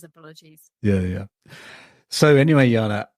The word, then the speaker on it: Jana: didn't tell you that my name is pronounced gaana sorry I do I do apologize I normally say that my biggest apologies yeah yeah so anyway Yana how are you today